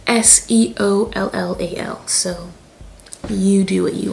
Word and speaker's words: Seollal: So it's called Solal.